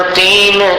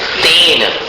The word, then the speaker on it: तेन: इसको तेन किं वा नहीं बोलना, तेन, तैन और तेन दोनों उच्चारणों में अंतर सुनाई दे रहा है आपको, तैन और तेन। तो यहाँ तैन नहीं बोलना, तेन बोलना।